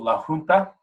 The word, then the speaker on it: La Junta: an area of Colorado called La hunter or as we called it in my my household La Junta which is the proper pronunciation it is it's it's